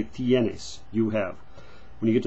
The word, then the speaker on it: tiene: say tenes, you say tienes, you have. When you get to the he and she form, you say ella tiene, she has, tiene, not tene.